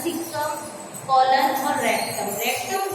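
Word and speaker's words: caecum: ये जो फर्स्ट है इसकी स्पेलिंग जो आपको दिख रही है, इसमें क्या होता है, ए साइलेंट होता है, इसको क्या बोला जाता है, सीकम, कॉलन और रेक्टम।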